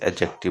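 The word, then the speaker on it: adjective: जैसे कि आप एडजेक्टिव नहीं कह के एडजेक्टिव कहोगे। यहाँ पे डी जो है ना वो साइलेंट होता है, ठीक है मेरे भाई।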